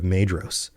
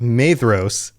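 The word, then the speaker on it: Maedhros: And in the confusion that they wrought, they came near to the standard of Mros. And I just realized I've been doing it again. Pronunciation is rough. Mos. It's a DH.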